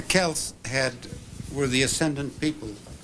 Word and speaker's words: Celts: before rome the celts as scholars tell me i should pronounce the words cells the kels had were the ascendant